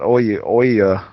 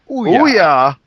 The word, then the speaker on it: Ouya: It's just Ouya. Ouya. That sounds better. Like booyah.